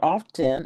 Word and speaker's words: often: And so often is the same way. You don't pronounce the T. It's not a hard T. It's not often.